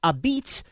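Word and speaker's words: apizza: The exhibit is titled Pronounced a Beats and will be on display at the museum on Whitney Avenue for the next 2 years.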